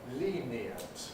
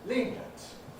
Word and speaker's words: lenient: So we can say lenient with 3 syllables, lenient. But we can also say lenient, lenient with 2 syllables.